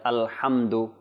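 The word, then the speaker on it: الحمد: যেন আমরা কলকলা বা জবর না লাগাই কিভাবে উচ্চারণ আলহামদু ইনশাআল্লাহ তো আমি বানান করে আপনাদেরকে শোনাচ্ছি আপনারাও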